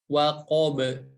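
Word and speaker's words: وقب: Ketika huruf ba waqaf atau berhenti, maka harus dipantulkan karena memiliki sifat qalqalah, waqab.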